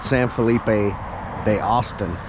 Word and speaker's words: San Felipe de Austin: is well let me say say it right San Felipe de Austin it's basically just north of the town of